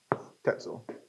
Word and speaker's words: Tetzel: Spelled almost like pretzel. Oops. Tetzel. Almost like pretzel. Rhymes with it.